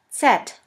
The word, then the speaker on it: Z: word yoga yoga and the last letter is set set which is pronounced like the s in the word bits here we have the